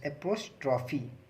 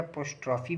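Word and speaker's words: apostrophe: ई पी ओ एस, APOS एप्रोस्ट्रॉफी, ठीक है, या एप्रोस्ट्रॉफी। इसको बहुत लोग प्रोनाउंसिएशन गलत कर देते हैं। एप्रोस्ट्रॉफी होता है या पोस्ट्रॉफी भी बोल सकते हैं आप।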